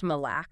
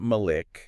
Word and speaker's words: Malak: It's pronounced Malac. Malay. Okay. Not Malik.